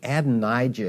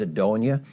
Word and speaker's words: Adonijah: And because he was infirm and unable to rule effectively, one of his sons, Adoniah, and incidentally, Adonijah is pronounced in Hebrew as Adoniah.